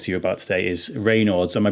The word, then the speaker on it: Raynaud's: wanted to talk to you about today is Reynolds am I pronouncing that correctly yes yeah cool so well